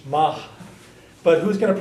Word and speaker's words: maith: Ma which should pronounce you should pronounce that like an H Mah but who's going to